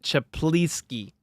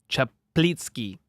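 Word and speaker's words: Czaplicki: It's Eddie Chaplinski. And I probably butchered the name. Chaplitzki. Look at the spelling. It's crazy, but I think it's Chaplitzki or close to it.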